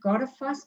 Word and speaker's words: Goðafoss: You spell it Goðafoss, but you pronounce it Goðafoss.